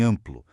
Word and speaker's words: amplo: De um lado, a gente tem o dígrafo nasal, tipo em amplo. Aquele AM não é a letra A, mas a letra M sendo pronunciada separadamente. O M ali só serve para mostrar que o A é nasal, funcionando meio que como um tio invisível. É um único som.